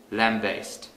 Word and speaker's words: lambaste: For the first syllable, lamb, we can use lamb, the animal, or lamp, the thing that generates light, as the substitute word. For the second syllable, based, we can use bass, the musical instrument.